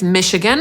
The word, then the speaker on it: Michigan: Po pierwsze nie wszyscy pamiętają, że to „ch” należy czytać jako „sz” i wymawiają to np. jako „cz”, a po drugie mamy tutaj w pisowni samogłoski i-i-a, a czytamy to tak naprawdę przez trzy „i” – /ˈmɪʃɪɡən/. Potem mamy Minnesota /mɪnɪˈsoʊt̬ə/ zapisywane